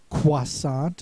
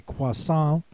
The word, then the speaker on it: croissant: It was pronounced croissant. Uh that neither has the oi sound as in English or the wa sound as in French.